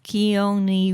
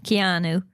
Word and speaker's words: Keanu: film okay H what's his name Neil is keoni Reeves I can ever say his name how Keanu Reeves uhhuh so you want to speak a